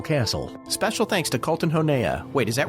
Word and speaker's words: Honea: Special thanks to Colton Honea. Wait, is that right? The proper pronunciation is Colton Honey, but believe me, announcers have butchered my name over the years.